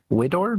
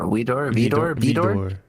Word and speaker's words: Widor: embarrassed, but I think the composer's name is pronounced Widor, maybe? Vidor. W-I-D-O-R, Vidor.